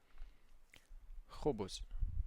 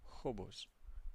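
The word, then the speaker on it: خبز: We have kha kha kha kha kha So as if something is just stuck in your throat and you want to take it out. So kha kha khubz bread khubz kha kha khubz kh khubz Repeat after me.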